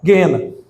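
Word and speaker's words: Geena: Jesus vai falar sobre o lago de fogo ou guena. pronúncia mais ou menos essa g e e n a gena, o lago de fogo,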